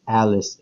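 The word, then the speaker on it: ALYSS: ejemplo la escritura de la salida a L y SS se pronuncia Álex en inglés las estrellas en el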